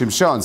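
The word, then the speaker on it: שמשון: And they say that Reb Shamshon Rafael Hirsch, his name really is supposed to be pronounced Shimshon.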